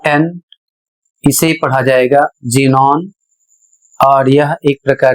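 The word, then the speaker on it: xenon: इसे पढ़ा जाएगा जेनोन और यह एक प्रकार की गैस है।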